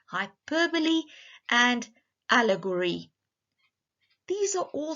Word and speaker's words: hyperbole: It is pronounced hyperbole, and allegory.